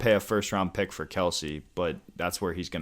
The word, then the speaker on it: Kelce: a first-round pick for Kelsey, but that's where he's going to go in drafts. No. Heck no. So, all right, well, that... You know how to pronounce his last name is actually Kels?